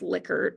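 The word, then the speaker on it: Likert: that we rate on ler it's actually pronounced licker but nobody likes the way that sounds um lier type scales where I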